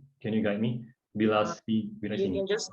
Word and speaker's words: Vilasini: And then we have Vilasani. Am I pronouncing the name? Can you guide me? You Vilasini. can just call me Vila. It's actually Vilasini.